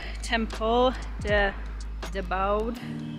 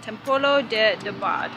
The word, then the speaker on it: Templo de Debod: So we're changing our mind, we're gonna walk to Temple de Debod. Let me pronounce that, Templo de Debod, which is an Egyptian temple.